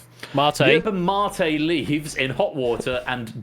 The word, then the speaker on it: mate: So, it's your pronunciation. Look, prom. I know it does, but it's mate.